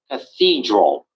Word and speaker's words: cathedral: Paul's Cathedral. St. Paul Cathedral. Okay, good. Paul Cathedral. St. Everyone three three syllables and the stress is on number two. It's going to be cathedral.